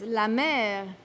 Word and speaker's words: la mer: The sea, la mer in French, which is pronounced in French as la mer, which also means the